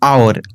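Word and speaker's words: hour: আমরা এগুলো সবাই জানি, যখন আওয়ার, আওয়ার রয়েছে, দেখো ওই আমরা তো হাওয়ার বলি না, বা এর বলছে, তারপরে অনারেবল, হনারেবল তো বলি না, অনেস্ট বলি, হনেস্ট তো বলি না, উচ্চারণটা কি? অনেস্ট, অনারেবল, ঠিক আছে, অনারারি, আওয়ারলি, এগুলো তো আমরা এইচটা মিউট থাকে, সেই ক্ষেত্রে যখন এরকম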